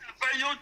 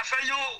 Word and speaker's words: Afenyo: The F, don't pronounce it F. Pronounce it fair. Fair. Yes. Okay. Afenyo is the right name. But if you say Afenyo, then you are talking about different things.